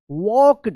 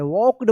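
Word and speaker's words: walked: इसका रूल है कि के से पहले अगर एल आता है तो एल का कोई उच्चारण नहीं होता है। वॉक्ड पढ़ेंगे।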